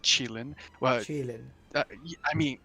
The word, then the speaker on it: Qilin: Chinese pronunciation is Qilin.